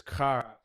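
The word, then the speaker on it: χαρά: the Greek word for it is pronounced, I'm pronouncing this correctly, but it's kara.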